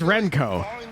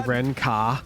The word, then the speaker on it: Renko: like renko in chat that's just renko there's no there's no other way to pronounce it you're not gonna say Ren car last two rounds of